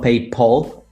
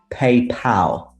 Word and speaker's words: PayPal: who this guy is it's not paid paul uh unfortunately but it's paypal pal is another word